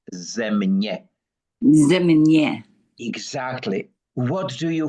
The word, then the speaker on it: Země: Uh, Charito, if you close your eyes and you hear the term ZEMње, and this is how it's pronounced, ZEMње.